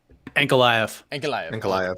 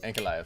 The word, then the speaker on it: Ankalaev: Ankalaev. Ankalaev.